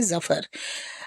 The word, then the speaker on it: Zafar: It rhymes with Duffer. So if you can say Duffer, you can say Zafar.